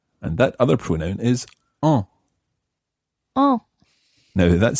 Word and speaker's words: en: And that other pronoun is en. En. Now, that's spelled E-N, en.